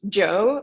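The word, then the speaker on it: Zhou: said her name is zoo or Sue uh so it's pronounced Joe but it's written like that h-o-u um yeah very nice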